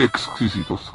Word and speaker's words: exquisitos: Esto lo vamos a dejar hervir, a ver en cuánto rato están esos frijoles deliciosos y exquisitos, hay que pronunciar bien. Tiene que pronunciar uno la X, perfecto. Exquisitos, para que sepan más sabrosos.